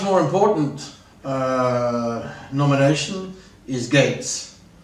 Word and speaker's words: Gaetz: important uh nomination is Gates sounds like Bill but it's not spelled the same um he's yeah without